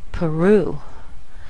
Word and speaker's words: Peru: thing happens with Peru you hear the Glide at the end Peru now some people will try to sound more Spanish when they say Peru and more Portuguese when